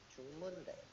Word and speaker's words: 중문대: So how I pronounce it is 중문대. The first letter is chung, which is actually very similar to Cantonese, right? Chung. And the second one is mun.